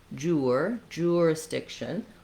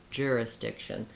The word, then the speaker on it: jurisdiction: You'll probably see jurisdiction, with a clear diphthong going from the oo sound. You'll also hear many American speakers reduce this to more of a jurisdiction. So whichever is easier for you, you'll hear a range between jurisdiction and jurisdiction.